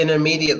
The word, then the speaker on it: intermediate: Russian something like that we'll say intermediate we wouldn't pronounce that tea so a lot of times in American Eng the tea is silent it's all lazy that's